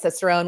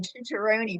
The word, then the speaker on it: Cicerone: So tell me, what is I was almost going to say like an Italian pronunciation, a pronunciation Cicerone, but it's Cicerone.